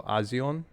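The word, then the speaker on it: A'zion: you say your name it's a apostrophe Z IO n so azion I would assume Odessa azion um she's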